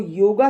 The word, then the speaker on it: योग: लोगों ने भ्रम वश योग समझ लिया है और उसको योगा शब्द से उच्चारण करते हैं जबकि योगा को कोई शब्द नहीं होता है योग शब्द होता है योग का मतलब जैसे